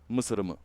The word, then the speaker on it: MSRM: our wonderful, wonderful friend MSRM, or if you pronounce that in Bulgarian, Mısırımı.